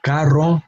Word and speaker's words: carro: If we have one R, caro, we have a different sound.